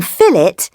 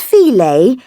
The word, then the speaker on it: fillet: And Americans, please note, saying "erb" instead of herb, and pronouncing fillet as filet without the T is not clever or sophisticated. You are not French.